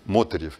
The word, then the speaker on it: Мотырев: Не Мотырев же, я надеюсь, Мотырев, я ставлю, по крайней мере, ударение на первый слог.